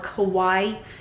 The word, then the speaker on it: kawaii: Somebody in Japan is going to be thrilled, or somebody that dresses all in pastel or kawaii, like Hawaii but with a K is how you spell it.